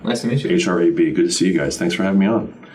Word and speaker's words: Hrab: So my name is Hrab. Nice to meet you. Hrab.